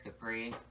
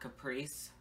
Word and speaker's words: Kapris: It's Darius Capri. Not Caprice, Capri Sun, or any other of that bullshit. It's Capri. K-A-P-R-I-S. Darius Capri. My mom felt like I was special enough to have a silent S at the end.